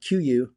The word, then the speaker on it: KUIU: But I have found one fleece layer that I like, and is made by the online hunting brand called QU, and it's QU is spelled KUIU, and it's their Peloton 97 fleece hoodie.